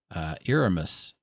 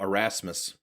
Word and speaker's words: Erasmus: But there was something in the last book that Aramis, correct me, Mike, on the pronunciation. You're so far off that I don't. Who's Aramis? Omnius's counterpart. Oh, Erasmus.